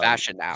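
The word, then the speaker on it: Fashanu: to know about the the Raiders organization uh fashion now that's how steel dog says it's pronounced fashion now there you go fashion now fashion now okay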